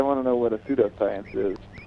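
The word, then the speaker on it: pseudoscience: to know what a pseudo science is O pseudo science with the silent P yeah um whatever that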